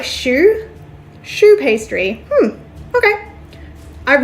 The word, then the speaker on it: choux: before putting it in the waffle iron it's pronounced like choux choux pastry hmm okay I've never heard of